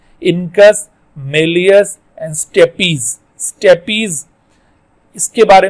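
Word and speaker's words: stapes: This is नॉट स्टेप्स, इसको स्टेप्स नहीं कहते, इसको कहते हैं स्टेपीज।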